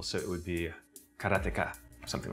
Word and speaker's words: Karateka: In Japanese, there's no stress on any syllable, so it would be Karateka, something like that.